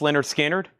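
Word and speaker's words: Lynyrd Skynyrd: Leonard Skannard. That is pronounced. I have two of them. Leonard Skannard is $24.99. I have two of those. Leonard Skinner, pronounced Leonard Skannard.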